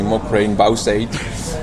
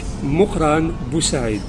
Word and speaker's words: Mukhran Busaid: pronounce your name because my screen reader always tells me mukrain bowseight now i finally know how to pronounce it i don't pronouncing it the algerian way i'm called in in arabic mukhran busaid since this is a